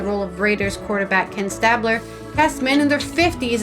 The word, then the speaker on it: Stabler: ceramic sculpt huh sorry I said Stabler you said Stabler St St stapler that's how was pronouncing it like stapler the fragility of the